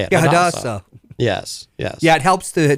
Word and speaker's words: Hadassah: Yeah, Hadassah.